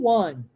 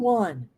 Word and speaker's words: won: Eu não vou falar on, eu vou falar one, ó, one, é o one. Who won? Ok? Oh, really? Who won?